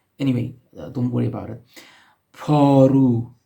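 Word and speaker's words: پارو: Paru, P alif re vav, paru, which means the shovel.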